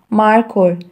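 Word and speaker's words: markhor: the answer is marco how to pronounce the national animal of pakistan mar ko m-a-r k-h o r marco m a r k h o r marco is a national animal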